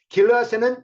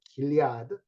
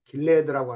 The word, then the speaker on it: Gilead: 길앗에는 유향이 있지 아니한가? 그곳에는 의사가 있지 아니한가? 딸 내 백성이 치료를 받지 못하면 어찌 됨이고? 우리는 길앗이라고 발음하는데 영어로는 길리아드 이렇게 써놓고 발음은 길레드라고 하더라고요.